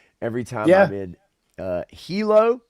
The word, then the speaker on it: Hilo: Uh every time I'm in uh Hilo. Am I pronouncing it right? Hilo or Hyo? Hilo. Yeah.